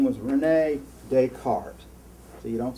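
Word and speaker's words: René Descartes: there was a french philosopher his name was renee descartes so you don't say you don't pronounce the asses in france renee descartes he was really smart you may have heard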